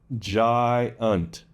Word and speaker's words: giant: Giant. Now, the reason for this is because the vowel sounds are in separate syllables. So the G-I, jai, is the first syllable, and unt is the second syllable.